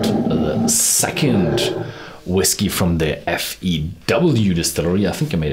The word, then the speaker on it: FEW: second whiskey from the Fe ew Distillery I think I made a mistake in the first video I always I called it FV that's a German pronunciation so and the second